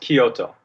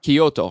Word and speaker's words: Kyoto: It's pronounced Kyoto. Kyoto. Okay, thank you.